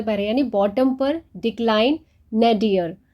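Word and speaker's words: nadir: यानी बॉटम पर दिखलाइन ना डियर इसको नादिर प्रोनाउंस नहीं करना है इसका मीनिंग होता है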